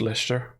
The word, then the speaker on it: Leicester: Or Leicester, is that not how it's spelled? Leicestershire? Oh, like Leicester or whatever it is? Yeah. It's just Leicester.